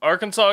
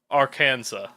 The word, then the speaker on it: Arkansas: the Acassas, or the Arkansas people, meaning people of the south wind or downstream people, with the final S being a French addition, leading to the modern spelling and the silent S pronunciation.